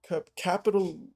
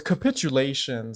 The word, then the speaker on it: capitulations: cap cap capitulations cap capital capital whatever the I I can't pronounce that. Capital No, it's capitulations. I'm so stupid. I I I read capital, you know, it's capitulations with European empires.